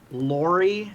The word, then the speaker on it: Lori: Lori, as in the thing you would use to move things.